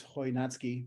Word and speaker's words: Chojnacki: so so I'm my last name is hoi natsuki might be hard to pronounce but maybe you were wondering um the